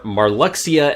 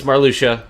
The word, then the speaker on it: Marluxia: us toward a castle in the distance is Marr Lucia or marluxia as I called him back in the day because that's how it should be pronounced but because you can pronounce X like